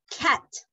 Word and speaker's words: cat: Then we have cat. Cat. And this is important, the pronunciation, because the letter A sounds A. Yes, it's cat, no cat. ¿Escucha la diferencia? You say cat con la boca súper abierta.